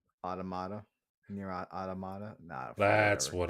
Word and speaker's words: Automata: like 2B and everything how do you say that is it otoma or is it aut it's automata automata near near automata near automata near Auto yeah because it's mat at the end automata automata near automata no